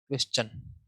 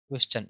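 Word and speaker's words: question: तो क्वेश्चन को हम कैसे प्रोनाउंस करते हैं, क्वेश्चन, क्वेश्चन इस तरीके से वे का साउंड आता है।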